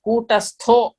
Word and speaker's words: कूटस्थो: That red letter is there, you have to stress and pronounce. Kutastho.